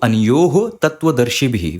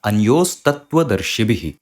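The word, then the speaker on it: अन्योस्तत्त्वदर्शिभिः: So anyoho tattva darshibhi. We are not going to pronounce it like that. We will pronounce it with a sakara, anyos tattva darshibhi.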